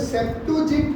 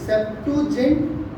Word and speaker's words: Septuagint: इसको बोलते हैं, ध्यान रखना, इसको बोलते हैं, आपको आना भी चाहिए, इसको बोलते हैं सेप्टुजिंट ट्रांसलेशन। क्या बोलते हैं? स्पेलिंग बोलता हूँ मैं एक बार, SEPTUAGINT, सेप्टुजिंट ट्रांसलेशन।